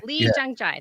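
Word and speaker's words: Lee Jung-jae: Phonetically. Lee Jung Jae. Lee Jung Jae, that's it.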